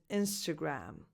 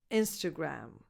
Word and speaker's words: Instagram: The correct pronunciation is Instagram. So you start with a lax e, as in the pronoun it, insta, and then the second vowel is a schwa, insta, insta.